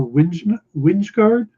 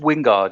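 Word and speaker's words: Wijngaard: against all with artist uh Casper winsguard Winston guard uh yeah I think the chase site is just Wingard yeah okay like like Peter Wingard remember yeah and guardian Leviosa or Jason Jason Wingard from Uncanny X-Men right okay yeah the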